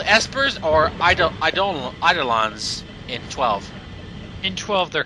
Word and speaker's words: Eidolons: Now they're Eidolons. Yeah, thank you, Liam O'Brien, for telling us the correct pronunciation the first time.